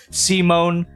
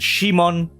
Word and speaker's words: Simon: show is that uh Simon I'm just going to call him Simon I know they pronounce it as Simone in the dub and Shimon in J Japanese but it's [ __